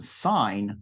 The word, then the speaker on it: sign: got mail okay but in that related verb um sign we don't want to pronounce the G but signature is what